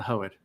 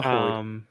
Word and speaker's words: Hoed: The Hoed, what is it, the Hoed? The Hoed, not the Hoid. Sorry, the Hoed. I thought it was the Ho. I think she's saying Hoed. The Hoed, not the Hoid.